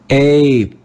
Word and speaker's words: ape: This letter A will be read with the long A sound in English, A. Let's read this word together. Ape, ape, ape.